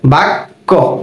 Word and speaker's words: বাক্য: ব আকার বা ক জফলা, বাক্য, বাক্য। ওকে, তাহলে এই ক এর সাথে যখন জফলা হবে তখন এর উচ্চারণটা হবে ক জফলা ক।